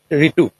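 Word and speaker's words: Writu: Ritu. W is silent.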